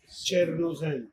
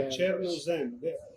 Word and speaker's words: Chernozem: We talked about this and I'm going to pronounce it wrong, so correct me. Chernozem? Chernozem. So, Chernozem.